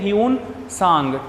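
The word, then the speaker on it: Hiuen Tsang: ठीक है, ह्यून सांग, TSANG, T साइलेंट रहेगा।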